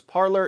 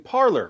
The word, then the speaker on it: Parler: That could possibly change with Parler, because Parler is gaining a bunch of media attention and a ton of new momentum.